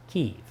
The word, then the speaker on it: Kyiv: "the" in front of Ukraine and the correct pronunciation of its capital city, Kyiv.